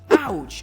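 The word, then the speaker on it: couch: чому лайфхак що кауч кауч ауч у вас читається диван кауч а Коуч тренер у нас є в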